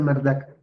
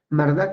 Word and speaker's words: Marduk: más poderosa de Mesopotamia marduk bueno se pronuncia mardak mardak es el organizador él